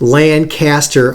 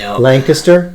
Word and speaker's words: Lancaster: now student pastor in it's not pronounced lancaster all that does is prove you're not from there it's lancaster is that close enough